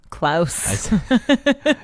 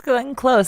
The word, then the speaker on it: Glenn Close: Klaus. Wait, is it close? It's Glenn Close. It's not even spelled like Klaus or anything. It's spelled like the word close.